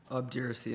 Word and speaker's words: obduracy: Obduracy, am I pronouncing it correctly?